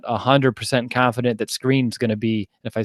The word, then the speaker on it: Skrine: I'm not 100% confident that Screen's going to be. If I said the other Skrine, I apologize. I'm still getting used to that one. It reads as Skrine, but it's pronounced as Screen.